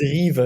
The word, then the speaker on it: KYVE: there can you please can you please correct it just so that the audience it's Eva if you want to